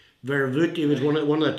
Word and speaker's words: Verwoerd: Now, vervoet, I think that was proper pronunciation in South Africa. Verwoerd, he was one of the top men in South African apartheid system.